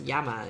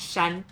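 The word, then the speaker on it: 山: Mountain is yama in Japanese pronunciation, but like sun in Chinese pronunciation. Yes. Yeah, for the Japanese Chinese pronunciation, and in Chinese it's shan. So it's not that different. You can tell that it's the same.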